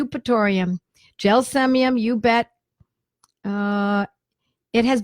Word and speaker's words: Eupatorium: Eupatorium. Eupatorium is spelled E-U-P. I know it sounds like it's U-P. It's E-U-P, Eupatorium.